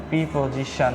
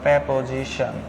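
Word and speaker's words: preposition: যেমন আমাদের কি আছে প্রিপজিশন বা প্রেপজিশন আপনারা যেটাই বলুন না কেন কিন্তু সঠিক উচ্চারণ কিন্তু প্রেপজিশন আচ্ছা তারপরে আমাদের হলো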